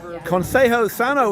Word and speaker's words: Consejo Sano: All right, Matthew Holt with Abner Mason, who's the CEO of Consejo Sano, which I finally correctly pronounced just in time until the name is changing.